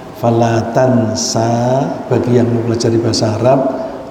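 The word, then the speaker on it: فَلَا تَنْسَىٰ: ya membacakan al-qur'an kepadamu Fala Tansa maka kamu tidak akan lupa hati-hati kita membacanya Sanya panjang Fala Tansa bagi yang mempelajari bahasa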